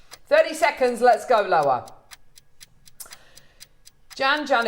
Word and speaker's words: Jan: seconds let's go Lower Jan Jan. It rhymes with ham.